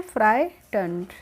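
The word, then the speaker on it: frightened: भी आया था एक जीएच जब होती है तो यहां पे यह साइलेंट होती है तो हम इसको बोलते हैं फ्राइटें जस्ट देन ए लार्ज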